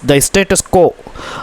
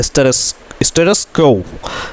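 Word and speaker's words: status quo: बट इफ़, लेकिन अगर द स्टेटस को, अच्छा स्टेटस को इसका प्रोनाउंसिएशन है दोस्तों स्टेटस क्वो, जैसी स्थिति अभी है वैसी ही रहना।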